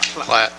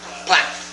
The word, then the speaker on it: Platt: Platt. Platt.